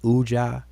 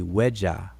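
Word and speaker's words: wedja: middle word UAH people people pronounce it as uja but it's really weda and it and it comes from a word that means prosperous or to be sound my name is a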